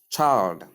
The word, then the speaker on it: child: Chi, I, L, D. So you say child, child, child, not child. Some people pronounce this as child, child, omitting the L sound. There's a word that is pronounced as child, but that word is spelled thus. C-H-I-D-E. That is child, child, child. That is for that word. But this one is C-H-I-L-D, pronounced as child, child. There is la sound. The la sound is not silent here.